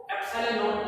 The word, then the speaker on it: एप्सिलॉन नॉट: अपन क्या बोलते हैं वैसे तो एप्सिलॉन नॉट बोला जाता है इसको, एप्सिलॉन नॉट। नॉट इसलिए बोलते हैं क्योंकि जीरो को अपन क्या बोल देते हैं यहाँ पे, इस तरह से इसको प्रोनाउंस कर सकते हैं, ठीक है ना।